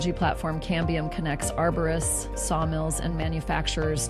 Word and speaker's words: cambium: Cadmium. Is that how you say it? Cambium.